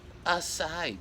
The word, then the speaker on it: açaí: always a goal ah let's pronounce acai berry gelato okay now we know aside barry aside betty there you go